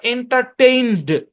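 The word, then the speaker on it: entertained: তো আমার দোষ হবে এখানে ইটা সাইলেন্ট তাহলে এই শব্দের উচ্চারণ এন্টারটেইনড মানে ব্যাপারটা এমন যে এনডি কনসোনেন্ট ব্লেন্ড এরকম একটা ব্যাপার আসবে আর কি এন্টারটেইনড কি উচ্চারণ এন্টারটেইনড এন্টারটেইনড বুঝছেন ভার্বের শেষে ইডি ভার্বের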